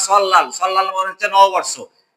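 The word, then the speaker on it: 설날: সল নাল বলবো না, সল লাল।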